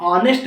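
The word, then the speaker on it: honest: एच, एच आया है लेकिन एच क्या है, साइलेंट है, इसके बाद आया है ओ, और ओ और उसका उच्चारण भी क्या आ रहा है, आवर, ऑनेस्ट, sorry, an ऑनेस्ट मैन आ रहा है, तो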